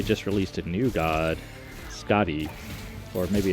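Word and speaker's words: Skaði: released a new god, Scotty, or maybe it's Quadi. I don't know. Sometimes Swedish, the SK is pronounced as the SJ, which is a throat sound.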